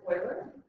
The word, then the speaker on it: Euler: We call it, it looks like Euler, but it's pronounced Euler. So Leonard Euler was the guy who discovered this number, this ratio.